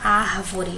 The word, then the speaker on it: árvore: Aqui nós temos a palavra árvore. Olha aqui de novo o acento. Então, eu já sei que o ar aqui é a sílaba tônica, eu circulo.